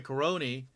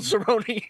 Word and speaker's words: Cerrone: wrong, it's fucking Donald Cerrone. Yeah, I don't know. I don't know what I was thinking. I just know his name so well because it rhymes with baloney, my guy.